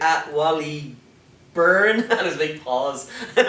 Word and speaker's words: Byrne: He was like at Wally Byrne, and his big pause. It was like he wasn't sure how do you pronounce his name. But yeah, it's like B-U-R-N, like when you burn things, but it's B-Y-R-N-E.